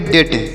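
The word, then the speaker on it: debt: से इसे याद रखेंगे डी ई बी टी तो इसे क्या पढ़ेंगे इसे पढ़ेंगे डेट क्या पढ़ेंगे प्यारे बच्चों इसे पढ़ेंगे डेट यहां पर डी इ से डे और बी यहां पर साइलेंट है मतलब हम इस डी को यहां पर सॉरी यहां पर इस बी को हम नहीं पढ़ेंगे यहां पर बी का प्रोनंसिएशन नहीं किया जाएगा तो इसे हम पढ़ेंगे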